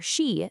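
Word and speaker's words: 四: The word for 4, shi, sounds exactly like the word for death.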